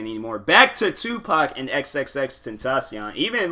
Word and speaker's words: XXXTentacion: I found out about XXXTentacion. I remember I could not say his name. I think I said like XXXTentacious or something like that. I know I wasn't pronouncing that man's name right.